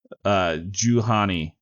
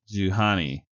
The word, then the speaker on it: Juhani: Juhani. Juhani. I think that's how you say her name.